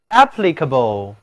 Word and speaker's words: applicable: 字母 A 读倒写的元音 a，请跟我来读 applicable， applicable。